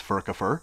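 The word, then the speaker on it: Furcifer: actually pronounced fercifer is there are no soft consonants in classic Latin a lot of people think that it's pronounced fercifer it's not it's furkopher but it's actually two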